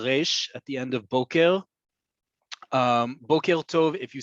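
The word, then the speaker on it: בוקר: Just know that it's Boker Tov, Boker, right? If the emphasis is on the second syllable, Boker is a cowboy, spelled the exact same way but pronounced differently.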